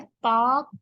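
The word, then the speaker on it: Palk: और इंडिया और श्रीलंका को सेपरेट करने वाली स्ट्रेट का नाम है पाक स्ट्रेट। ठीक है, स्पेलिंग में PAL के लिखते हैं, पर असल में ये बोला इसको जाता है पाक।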